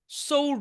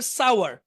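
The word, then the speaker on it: sour: সৌর না, কিন্তু এটা উচ্চারণ হবে সাওয়ার।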